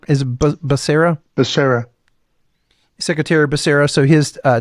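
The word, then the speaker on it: Becerra: you say his name you said is Basera Basera secretary Basera so his uh testimony this was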